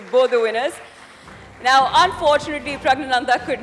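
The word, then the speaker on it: Praggnanandhaa: Yeah, it is Pragananda. It is Pragnananda for chess.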